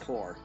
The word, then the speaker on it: Corps: not pronounced corpse. It's pronounced core.